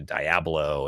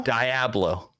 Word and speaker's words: Diablo: Diablo. This is the first you've been challenged on that pronunciation? Diagram. Like Diablo. Diagram.